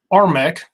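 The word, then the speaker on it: RMEC: fossil god defeated them armek it's spelled r-m-e-c it's all caps i like to talk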